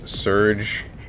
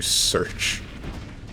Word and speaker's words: Serge: She was trying to use my name as Serge as in Sergio, but her pronunciation was lacking even though she was an English teacher.